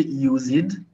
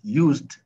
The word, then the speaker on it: used: Don't say use it, Major. Don't say use it. It's used. Used, not use it.